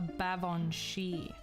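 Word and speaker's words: Baobhan sith: uh my mother is something called a Bavon shei that is spelled like this whoops that is spelled like this um don't worry I know just like that so uh she is a Bavon she uh not to be confused with a Banshee okay cuz they're different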